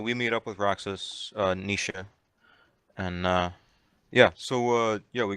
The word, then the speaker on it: Naoise: My character's name is Nisha.